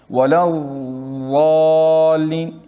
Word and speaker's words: وَلَا الضَّالِّينَ: تو ابھی اس کا صحیح تلفظ کیا کرنا ہے، وَلَا الضَّالِّينَ. جتنا آپ اس میں روکو گے نا اتنا ہی اس کا مخرج زیادہ صحیح ادا ہوگا.